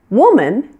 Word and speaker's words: woman: as you would expect woman is singular used for just one female the O in this word is pronounced like the double O in the words book and good this sound is pronounced